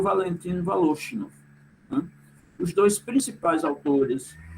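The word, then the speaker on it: Волошинов: Aqui está escrito Voloshinov em português, em russo se pronuncia Voloshinov, né?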